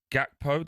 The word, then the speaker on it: Gakpo: Gakpo, did I get that right as well? Yep. Yeah, that's okay.